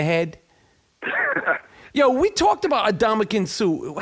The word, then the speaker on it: Ndamukong Suh: Yo, we talked about Ndamukong Suh.